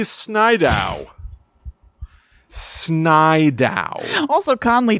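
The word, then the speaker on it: Snidow: one i like that his last name is snydow it's s s-n-i-d-o-w okay which sounds like if a toddler was pronouncing the name snyder yes you're right snydow connolly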